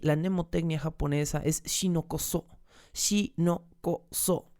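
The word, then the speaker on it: 士農工商: Shinoko-so. 4 sílabas.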